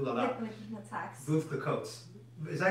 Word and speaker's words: Veuve Clicquot: Veuve Clicquot. Is that how you say it, or is it Veuve Clicquot? The T is silent. So Veuve Clicquot.